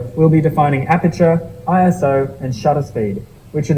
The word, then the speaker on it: ISO: Like I said, the industry has never said it as a word. We've always said it as letters. Is it possible to fully understand what ISO is, even if you say it as a word?